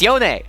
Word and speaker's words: Yone: It's not Yone, it's Yone.